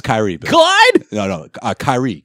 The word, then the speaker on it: Kyrie: Kyrie. That's how you say it.